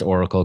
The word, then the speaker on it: Aurical: Did I pronounce Oracle correctly? You did. Yes. Okay, it's pretty, and I want people to know this. It's AURICAL. Find it on Spotify.